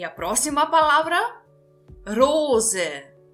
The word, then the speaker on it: Rose: Rose. Rose. Então, verifique aqui de novo, eu estou pronunciando o S com som de Z, pelo motivo dele se encontrar entre duas vogais, o O e o E.